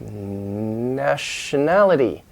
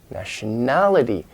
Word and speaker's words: nationality: move over sometimes, like nationality. Nationality. Now the main stress is in that nationality.